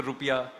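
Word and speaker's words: rupiah: Its currency is the rupia. I mean it's the correct actually the correct pronunciation rupia is yeah yeah the national symbol is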